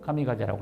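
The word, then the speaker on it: 神風: 그걸 일본 발음으로 감미가제라고 합니다. 그래서 얘네들이 태평양 전쟁 때 미국하고 전쟁할 때 타고 올라가서 거기까지 가는 기름만 높아서 때려고 죽는 거죠.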